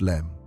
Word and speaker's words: LM: The LM, pronounced LEM.